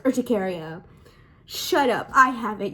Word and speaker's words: urticaria: It's not urticaria, it's urticaria.